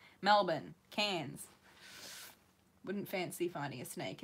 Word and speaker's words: Cairns: They say Cairns. We don't pronounce the R's. Melbourne, Cairns.